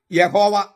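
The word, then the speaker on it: Yahweh: ഈ 4 അക്ഷര ദൈവനാമത്തിൽ സ്വരാക്ഷരങ്ങളില്ല. അതിനാൽ അതിന്റെ മൗലികമായ ഉച്ചാരണം യാഹ്വേ എന്നാണ്. സ്വരാക്ഷരങ്ങൾ ഇല്ലെങ്കിൽ യാഹ്വേ എന്ന് ഉച്ചരിക്കാൻ പറ്റൂ എന്നും അങ്ങനെയായിരുന്നു.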